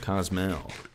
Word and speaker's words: Cozumel: How do you pronounce Cozumel? Cozumel, dude.